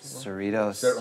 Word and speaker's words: Cerritos: Cerritos. How does sound? How does it pronounce it?